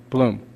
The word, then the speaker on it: Blum: Is that correct, the pronunciation? Blum.